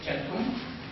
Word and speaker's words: centum: The 2 terms come from the words for the number 100, centum in Latin, pronounced centum, and Satem in Avestan.